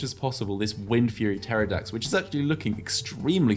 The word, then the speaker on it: Pterodactyl: You don't pronounce the P, it's just Pterodactyl. Pterodactyl. There you go. Silent P. Silent P.